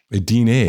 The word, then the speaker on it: Ydine: Okay, we're back on the phone with Ydine. Did I get the name right? It always throws me. Ydine. Yeah, it's a tough one. It's actually Ydine. Ydine.